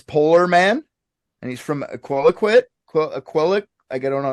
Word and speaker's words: Iqaluit: His name's Polar Man, and he's from Iqaluit. I don't know how to say that. Celeste. Iqaluit. That's how you say it.